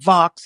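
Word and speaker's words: Vaux: Calbert and and v i called it vo but Vox is the pronunciation they won the the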